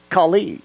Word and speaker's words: Kali: seminars whose mother had named her Kali, or Kali as it's pronounced in Hindi.